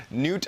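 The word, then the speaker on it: Knute: And I assume it's Newt right there, spelled K-N-U-T-E, but I'm gonna pronounce it like Newt. Newt, I think that's how you would pronounce it.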